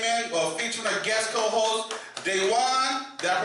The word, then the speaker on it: DeJuan: Now we have a a a caller came in featuring our guest co-host Dewan. Did I pronounce that correct? Dewan. Dwan.